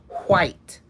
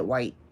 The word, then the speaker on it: white: this other white one you have to pronounce the w and the h really well white they used to try to teach us that in school we just didn't do it we just said white do enunciate and they go